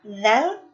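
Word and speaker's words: ذال: Selanjutnya kita lanjut kepada huruf dzal. Ya, slide-nya dipindahkan. Ya. Di sini kita bersama harus mengetahui bahwa huruf dzal ini keluar dari ujung lisan yang bertemu dengan ujung gigi seri atas.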